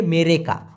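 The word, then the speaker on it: mereka: তবে এটার আর একটা ক্লিয়ার মালয়েশিয়ান ভাষা হচ্ছে মেরেকা। মে রে কা, উচ্চারণটা অবশ্যই লিখবেন মেরে কা।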